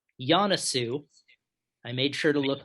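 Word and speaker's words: Joensuu: and the uh the place in finland is pronounced yanasu i made sure to look that up even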